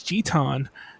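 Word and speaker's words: ジタン: But yeah, Titus and Zidane, if they just kept their original Japanese names, we would not have this argument, because it's Jitan and Tita.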